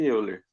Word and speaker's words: Euler: Esse é o valor, esse número é chamado de E, é o número de Euler.